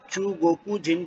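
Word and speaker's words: 中国人: और वहाँ के रहने वाले यानी चाइनीज नेशनल्स या चाइनीज पीपल्स को चूगोकू जिन कहा जाता है, चूगोकू जिन कहा जाता है।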